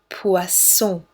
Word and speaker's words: poisson: Double S is the S, soft S, like snake. Poisson.